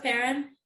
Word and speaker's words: Perrin: Hello, Perrin. Hello, everyone. Have I pronounced your name correctly?